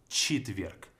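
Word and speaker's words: четверг: to sound like sirida similar is going to happen with chitweek we have che and here so here is the vowel but we pronounce it as cheetwerk chitwalk then we have patniza even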